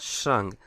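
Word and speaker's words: Schrank: আর্টিকেলটা জানতে হবে ডিয়া শ্রাঙ্ক তাহলে আমি আগে এখানে শ্রাঙ্ক লিখি এটা হচ্ছে এস সি এইচ আমি ইংলিশে বলতেছি এখানে লেটার গুলা আর এ এন কে শ্রাং ডে শ্রাং এটা জার্মান প্রোনাউন্সিয়েশন হচ্ছে শ্রাং তাহলে ডে থাকলে কি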